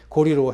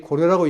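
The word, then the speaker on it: 高麗: 그래서 보니까 용비어 청강할 때 사람들이 고려라고 읽으니까 그러면 안 돼. 고리라고 해야 된다. 라고 얘기를 하고 있는 겁니다. 다시 말하면 그것은 고리 사람들의 얘기이기 때문에 이건 맞다.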